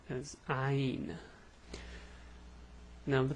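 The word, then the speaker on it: عين: this letter's name is ein now the pronunciation is hard the way you pronounce it is ha it's a it's like the a but it's deep from the throat well i know how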